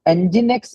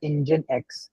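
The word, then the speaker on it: nginx: I mean yeah so engine X is basically we pronounce it as engine X engine X okay is very fast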